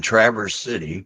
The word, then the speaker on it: Traverse City: words like that like I live in Trav city is how it's pronounced but it's spelled t